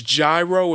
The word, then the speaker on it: gyro: i'm a goddamn american it's gyro it rhymes with spyro the dragon yeah i haven't had